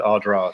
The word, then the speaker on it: Ardara: So it's actually Ardan Raha in Irish, which is the height of the fort. So there's a fort up on the hill. But it's been anglicized to Ardra.